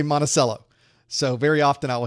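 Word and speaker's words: Monticello: Virginia and his uh his dwelling this place where he lived was monello well we don't say it right Florida we say monacello so very often I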